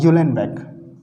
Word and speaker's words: Uhlenbeck: रुकना, हाँ, ये है गॉडस्मिथ, GOUDSMIT, गॉडस्मिथ, और यूलेनबेक, UHLENBECK। अब देखिए इसका जो प्रोनाउंसिएशन है मैं तो ऐसे ही बोलता हूँ, आप लोग जैसे भी बोलेंगे आप लोग समझ जाना, गॉडस्मिथ और यूलेनबेक।